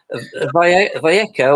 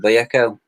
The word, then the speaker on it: Vallejo: Vallejo, or whatever you want to call it. I think the Spanish pronounce it Vallejo.